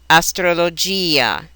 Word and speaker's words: astrologia: A is the same at the end of a word the I is usually sounded bolia astrologia in the middle of